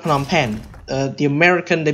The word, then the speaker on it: Phnom Penh: It's not Phnom Penh. The American, they pronounce it as Phnom Penh, but it's actually,